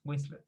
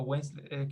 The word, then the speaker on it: Winslet: Ah, ahora me acordé del apellido, no sé si lo había pronunciado bien, era Kate Winslet, Winslet o Winslet, que es claro, así se pronuncia el apellido de la chica que protagonista del Titanic.